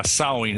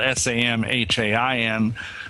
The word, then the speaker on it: Samhain: And the real name, I think, was called Samhain. Is that the correct pronunciation? Yeah, in the Celtic British Isles, yeah, Samhain. It's spelled S-A-M-H-A-I-N, but we say it as Samhain.